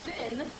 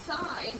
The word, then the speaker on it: sine: just to remind you this is not pronounced sin it's sign because it's clearly spelled s i n e but on your calculator